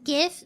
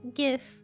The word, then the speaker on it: GIF: The creator of it said it's pronounced GIF, but he's wrong. It's GIF.